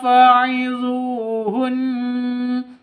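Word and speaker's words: فعظوهن: Nusyuzahun faiduhun faidu panjang dua ketukan karena ada wau mati diawali dengan domah mad asli atau mad th'i.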